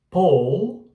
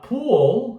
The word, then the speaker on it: pull: E a pronúncia dos dois, o U dos dois é o mesmo, tá? É o U mais curtinho. Porque esse pull, se eu falar pool, se eu forçar um pouquinho mais o U, ele vira piscina, pool, né?